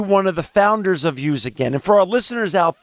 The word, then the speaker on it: USAgain: or were you one of the founders of use again and for our listeners out there again i'm